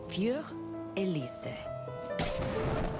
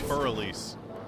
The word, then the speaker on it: Für Elise: And now, Für Elise. Bro, that's not how it's pronounced. It's Für Elise.